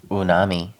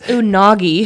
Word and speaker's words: unagi: rolls have rice yeah unami it's unagi unagi yeah dumb when he didn't